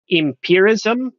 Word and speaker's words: empirism: Actually, empirism is the Swedish. Empirism. In English, it's pronounced empiricism, but the Swedish word is empirism.